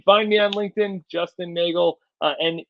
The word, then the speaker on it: Neagle: you can find me on LinkedIn Justin Nagel NE E A GLE e it's spelled like beagle but pronounced like Bagel so you know and